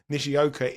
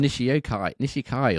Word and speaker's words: Nishioka: So you've called him Nishikai or something in previous years, weeks, months, whatever. It's definitely Nishioka.